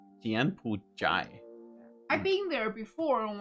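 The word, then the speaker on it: 柬埔寨: Jianpujai.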